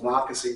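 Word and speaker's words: Monocacy: And there was a bridge over what they called Monakasi River. That's how you pronounce it. By the way, I named my book the Monocy Regiment, and I'm pleased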